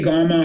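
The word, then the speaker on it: kamma: It's a Thai pronunciation because uh the you know the the poly word is typically spelled with English characters.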